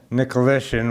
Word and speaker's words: Nikoleshin: The last name is Nikoleshin, which is the Ukrainian version of Nicholson.